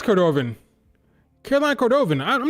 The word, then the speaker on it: Cordovan: That's a Cordovan. What's her name? Cordo. Cordovan. I don't remember her actual name. I just remember Cordo. It's Cordovan.